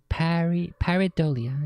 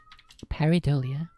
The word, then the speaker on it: pareidolia: The pareidolia. Is that how it's pronounced? Let's go look that up. Patches. How to pronounce pareidolia.